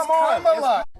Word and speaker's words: Kamala: It's Kamala. Now, one thing I will say, white people, especially white women, know how to pronounce the most weirdest names.